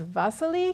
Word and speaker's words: Wassily: And look, when they say his name, they say the V in front, but really it's a W that's printed there. But he says Vasily Kandinsky.